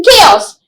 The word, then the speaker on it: chaos: silent over it in chaos especially the ch when we say church we we have ch for church right but then chaos the church sound is not there but then we have